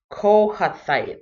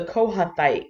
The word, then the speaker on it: Kohathite: I had the hardest time pronouncing this word or this name, Kohathite.